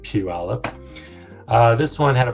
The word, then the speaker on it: Puyallup: and Puyallup that is in that's how you pronounce that by like Puyallup uh this one had a price reduction I